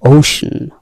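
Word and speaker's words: ocean: আসলে এটা ওশান না, এর উচ্চারণ হচ্ছে ওশান।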